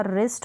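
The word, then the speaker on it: wrist: अब यहाँ पर र करके प्रोनाउंस करेंगे, साथ में आता है क्योंकि W तो साइलेंट है और R का ही साउंड हम देंगे। तो देखें रैक हो गया, रैच हो गया, रेथ हो गया, रिस्ट हो गया, रॉन्ग और रिंग।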